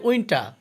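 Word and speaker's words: winter: উইন্টার অর্থ শীতকাল, এখানে উইন্টার হবে না, এটা হবে উইন্টার, কারণ লাস্টের আর এর উচ্চারণ হবে না।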